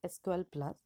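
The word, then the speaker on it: SQL*Plus: is SQL plus so it is written as SQL Star Plus and pronounced as SQL plus it is an Oracle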